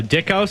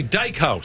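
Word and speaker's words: Dykhouse: Dana Dana J uh Dickhouse it's actually Dyke house yeah because it's spelled d-y-k so I wasn't sure but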